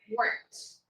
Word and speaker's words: worked: Não adiciona sílaba nenhuma. Por quê? Eu vou pular do K para o som de T direto. Eu vou simplesmente ignorar isso aqui, o finalzinho aqui, e na hora que eu falar, eu vou falar worked.